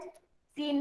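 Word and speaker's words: scene: में बी is silent, सीन में सी is silent, Saint में सी इज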